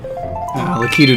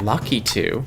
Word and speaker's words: Lakitu: Lakitu did not know where to float in that one. No. I've heard it pronounced lucky too. That's not correct.